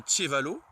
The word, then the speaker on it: ĉevalo: Ensuite, on a le C avec accent circonflexe pour le Tche, comme dans Tchevalo.